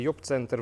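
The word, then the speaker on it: Jobcenter: Лена каже правильно читається йобцентр в Німеччині. Як був він називався Джоб-центр.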